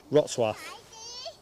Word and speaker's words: Wrocław: Wrocław. Wrocław. It's not pronounced how it reads.